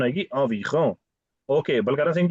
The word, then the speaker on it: environ: ही नहीं आता जब वो बोलते हैं environ pronunciation आएगी environ okay Balkaran Singh ji you wanna try this one sir il y a environ 50%.